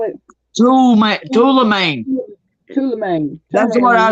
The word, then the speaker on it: tourmaline: Tourmaline, like turning lane.